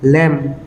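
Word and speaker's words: lamb: উদাহরণ এটা সাম আমি যেনকা বন্ধকল এল এ এমবি লেম be silent L এ এম লেম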